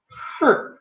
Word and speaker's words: 四: So look at my mouth again. 四 You can see in Chinese letter there's a toe down, right? So you need to go down.